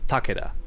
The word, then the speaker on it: Takeda: In Snake's defense, even Sub-Zero says Takeda.